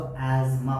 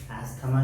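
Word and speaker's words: asthma: हैं हम लोग पर इंग्लिश में इसको जब आप प्रोनाउंस करिएगा तो इसको एमा पढ़ा जाएगा स्पेलिंग हो जाएगा इसका ए जड एम एमा इसको इसी तरह से प्रोनाउंस किया जाता है एथमा नहीं बोलते हम लोग उर्दू में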